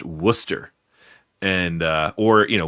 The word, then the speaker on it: Worcester: uh when I was in Massachusetts uh you know it's it's spelled Warchester but it's pronounced Worcester and uh or you know Worooster if you're feeling a little particularly Massachusetts and